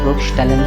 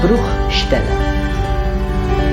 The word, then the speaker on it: Bruchstelle: It's Eierschalen soll Bruchstellen verursachen.